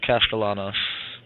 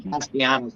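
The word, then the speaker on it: Castellanos: drive here to start how do you pronounce Boston College the quter back's last name Thomas castalanos that's what I figured but I was saying castanos I was like what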